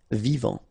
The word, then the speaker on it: vivant: Vivant. Final T not pronounced. Vivant. Ancien.